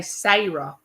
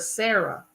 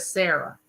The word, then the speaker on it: Sarah: they would always say sah instead of Sarah and if somebody called my daughter Sarah and I named her Sarah I would just have chills go up my back and slap me in the back of the head you know cuz my grandmother would have been the first one to call her SRA instead of Sarah so I did not